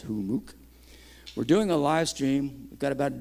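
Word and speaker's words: Humux: org run by humuck h-u-m-m-u-x is how you spell it but it's pronounced who mooc we're doing a live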